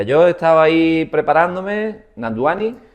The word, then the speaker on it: Nandwani: Nanduani. Efectivamente, en la W como una U. Nanduani. Nanduani.